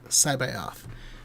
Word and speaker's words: C'baoth: Okay, so I go by the vocal pronunciation from Mark Thompson in the 20th edition re-release of the audiobook, where he says Joruus C'baoth is how he.